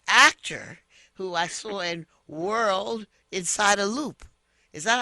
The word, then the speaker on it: Whorl Inside a Loop: He's the actor who I saw in World Inside a Loop. Is that how you pronounce it? That's correct. WHORL Inside A Loop. World Inside a Loop.